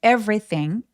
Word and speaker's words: everything: 여기 everything 발음하실 때 every요 중간에 오는 두 번째이 발음 같은 경우는 열심히 내지 않으셔도 괜찮아요. 그래서 바로 r로 넘어가는 것처럼 한꺼번에 fre라고 발음하시면 자연스럽습니다. 강세 또렷하게 everything.